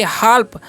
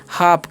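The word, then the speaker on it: half: ध्यान दीजिएगा आप लोग एच ए एल पी तो इसे हम क्या पढ़ेंगे हाल्फ हाल्फ नहीं पढ़ना है इसे हम पढ़ना है हाफ क्या पढ़ते हैं इसे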